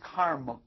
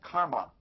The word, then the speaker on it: karma: folks don't understand Sanskrit a lot of the final aids are not pronounced so the word is karma it's not karma in the second place